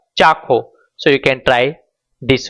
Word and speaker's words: ચાખો: just do one thing, find a say some joint, like let's say for example here cha and kho, so combining this the word will become chakho.